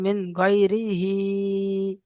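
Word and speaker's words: مِن غَيْرِهِ: মিন গয়রিহি, মিন গয়রিহি, গয়রি টান দেবেন না, মিন গয়রিহি। মিন গয়রিহি, চলেন এটা বানান করে ইজরা করেন তো। মিমের নিচে জের আছে, জেরকে হারাকাত বলে, হারাকাত যুক্ত অক্ষরকে টান দেওয়া নিষেধ, টান দেওয়া যাবে না, তাড়াতাড়ি পড়তে হবে।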